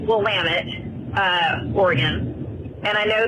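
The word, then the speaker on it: Willamette: Um, it's actually pronounced Wamit uh, Oregon and I know this because I'm in the wine industry and Wamtt's known for amazing Pon Noir.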